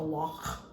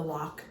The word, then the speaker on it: loch: on the fact that they talk about the loch. That's how they say it. Not really, but the loch. I can't do a Scottish accent.